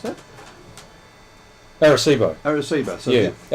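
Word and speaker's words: Arecibo: and pronounce this word correctly, Aricebo, can you pronounce that? Aricebo. So yeah, the Aricebo.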